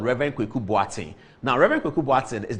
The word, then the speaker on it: Boateng: That's how the people where he grew with, that's how they pronounce his name, Boateng.